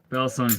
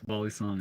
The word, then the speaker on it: balisong: or B bong tricks bongs how like American say it but Bal song is the the right way to say it I subscribed heck